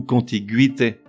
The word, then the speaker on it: contiguïté: À noter que l'on prononce gu, le E restant muet, au contraire des mots qui ont la syllabe gui, G-U-I tréma ou G-U tréma I, que l'on prononce gui comme dans ambiguïté ou contiguïté, avec un tréma indifféremment